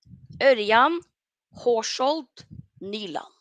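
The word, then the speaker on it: Ørjan Haskjold Nyland: Also says, how do you pronounce Nyland's full name? Oh, Örjan Horshold Nyland.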